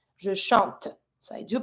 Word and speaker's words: chantes: Je chante. So I do pronounce my T, but I don't pronounce the E. Tu chantes, same thing. ES mute.